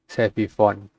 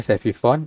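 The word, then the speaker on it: סביבון: Sevifone. Ini bacanya Sevifone, artinya apa?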